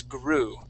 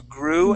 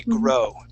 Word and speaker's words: grow: growing and storing food you would pronounce that word g-r-o-w as gru ways to grow and store food it's going to be grow well okay so that uh oh w will equal an o sound grow okay okay um the